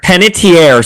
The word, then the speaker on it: Panettiere: I can never pronounce her last name. Panettiere, sorry.